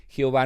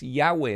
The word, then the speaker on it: Yahweh: es una manera que a partir del siglo 16 a través de eruditos alemanes la y se convirtió en jota y la W los alemanes la pronuncian como entonces por eso se escribe el nombre Jehová pero en realidad Jehová no es el nombre de Dios sino es Yahweh es el tetragramatón hebreo